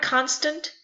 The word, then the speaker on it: constant: The word constant has two syllables, one stressed and one unstressed.